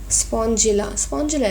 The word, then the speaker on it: Spongilla: Spongilla is the correct pronunciation.